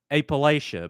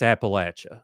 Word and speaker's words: Appalachia: And then you just say, "Okay, well, you take an apple and you throw an apple at you." That's Appalachia.